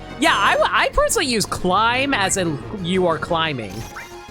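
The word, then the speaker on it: Climhazzard: Climb hazard. Or is it clip? Okay, Chad, do you pronounce it as climb? Like climbing something? Climb hazard.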